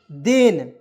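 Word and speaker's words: then: दोस्तों तब ठीक है अब कहिए सर जी टी एच का उच्चारण थ के रूप में होता है तो इसे थेन पढ़ेंगे क्या तो मैं आपको एक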